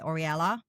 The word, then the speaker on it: Oriela: So, how important was it for you to have that Zen and Oriela, that's how you say it, right? Oriela. Yeah. Oriela. Yeah.